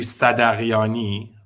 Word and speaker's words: Sadaghiani: Well, in Farsi, it's actually Sadaghiani, but we don't have Sadaghiani. the sound in English. So the H is silent, basically.